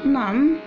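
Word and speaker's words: gnome: اول كلمة معانا نم. نم طبعا الجي سايلنت، ونم بمعنى تمثال.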